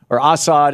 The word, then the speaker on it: Assad: Bashar al-Assad Assad is how they say it in Syria, is, killing his own people.